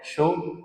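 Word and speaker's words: Jon M. Chu: है एडन बडी और जॉन एम शू इसको चू मत बोल देना कई बच्चे यह स्पेलिंग श होता है च नहीं कई बच्चे बहुत लेजेंड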